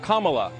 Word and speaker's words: Kamala: more than camela Harris her name is pronounced comma like the punctuation mark look Kamala okay seriously I've heard